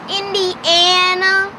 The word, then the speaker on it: Indiana: of Coastline and three it's called Indiana not India please please I want you guys to get this right so please please pronounce it right well one of the